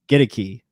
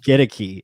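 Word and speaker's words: Goedeke: to say it uh get a key is the right way to say it he even said it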